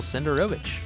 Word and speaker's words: Senderovich: So today I'm here with the new co-host, Michael Senderovich. Thank you. Thank you very much for the proper pronunciation of my last name.